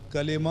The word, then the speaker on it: کلمہ: جی، یہ کلمہ نہیں ہوتا، کلمہ ہوتا ہے، لام کے نیچے زیر.